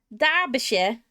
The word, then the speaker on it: Derbyshire: Derbyshire. Yeah, I always forget how to pronounce it. Derbyshire. Derbyshire. Shire. Zibidi. Not Shire or Shia, it's Sure.